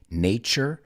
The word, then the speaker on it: nature: right to nurture and if you notice both of those words have that t u in it which sounds like a ch nature nurture nature nurture and what's the correct